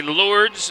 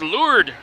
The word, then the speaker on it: Lourdes: i used to say lords and i remember doing state tournaments it's no it's lured the s is silent so it's rochester lured